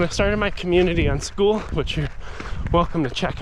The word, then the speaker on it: Skool: Club on school and school's platform is spelled SK o o l it's cool you know cool with a K of course but when I started